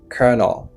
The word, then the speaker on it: colonel: OK, c'est colonel. Colonel qui veut dire colonel. Ouais, moi dit prononciation mot ça c'est colonel.